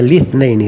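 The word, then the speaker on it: الاثنين: Nah, fi yaumil itsnaini. Kata beliau fi yaumil itsnaini. Juga bacanya litsnaini ya.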